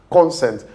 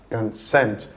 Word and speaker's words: consent: The stress is not on the first syllable.